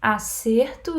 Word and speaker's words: acerto: As duas têm como sílaba tônica a penúltima, só que no acerto o som é fechado, acerto. E na outra, acerto, o verbo, né? Eu acerto todas as questões. Aqui é a penúltima também, mas o som é mais aberto.